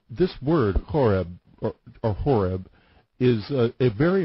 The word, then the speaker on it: Horeb: but um the the the original word um horb was spelled with a c it was c h o r e b and the C was silent uh so in English translation